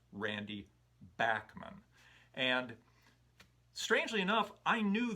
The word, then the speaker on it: Randy Bachman: the beach boys tony balls pointed out that randy bachmann's name is actually pronounced randy backman and strangely enough i knew that i had